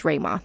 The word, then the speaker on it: Ruima: You can find us on Twitter at the Pandaily, ThePandaily, and my personal Twitter account is Rayma. That's spelled Ruima.